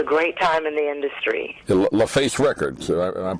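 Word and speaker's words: LaFace: it was a great time in the industry laf face records I'm pronouncing that right right out of Atlanta yeah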